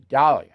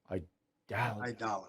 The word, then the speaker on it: Aidala: town name is Arthur Dalia I I mispronounced it last time I dollar I dollar I dollar like dollar bill of which you charge